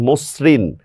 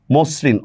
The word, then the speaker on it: মসৃণ: অধ্বনির পরে যদি রিকার হয় তাহলে অধ্বনির সংবৃত উচ্চারণ হয়, যেমন দেখেন মসৃণ, মসৃণ অধ্বনির পরে রিকার আসছে এই জন্য ময় ওকার হয়ে গেছে।